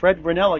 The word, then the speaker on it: Ranella: Fred Ranella keeping score. Rhymes with vanilla, spelled differently, Ranella.